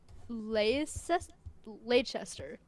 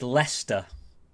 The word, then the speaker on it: Leicester: So, the word I'm looking at right here in the chat, um, is is that Lechester? Lechester. That's not bad. It's not bad. So, it's it's Lester.